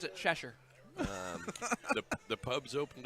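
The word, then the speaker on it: Chestervilleshire: i r e I will tell you we pronounce it cheser um the the pubs opened up in England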